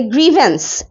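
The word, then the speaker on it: grievance: উচ্চারণ আচ্ছা এইখানে দেখেন আমরা এই গ্রিভেন্সটাকে ভাগ করতে পারি দুইটা পার্টে সেটা হচ্ছে বলতে পারি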